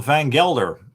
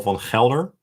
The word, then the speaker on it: van Gelder: van Gelder. I'm just saying it in the English way instead of van Gelder. van Gelder, which is the Dutch way or Belgian way to pronounce that.